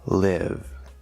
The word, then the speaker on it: live: It has a silent E at the end, but it does not change the vowel sound in this case. Live.